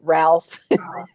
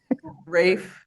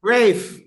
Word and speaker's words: Ralph: they wouldn't pronounce it Ralph? Rafe. Rafe. Yeah. Yeah, I'm But he said Ralph and then Ben says it's pronounced Rafe.